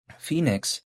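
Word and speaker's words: PHNIX: But Phoenix, even though it's not spelled like the actual Phoenix, like you know, Phoenix, Arizona, it's spelled like P H N I X.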